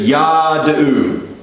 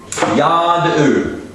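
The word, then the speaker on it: יָדְעוּ: All it does is tells you to make this vowel a little bit longer than you usually would. So instead of yad'u, it's yad'u.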